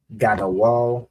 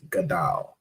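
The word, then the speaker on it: גדול: I believe this would be actually be pronounced as Gadal. Right, as in Nafsa Gadal Har. Yeah, Gadal. This Y here, this is something the Jewish man added to make this O sound.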